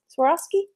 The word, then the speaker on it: Swarovski: saying it right now swore off Swarovski so I think I'm saying it right we'll put those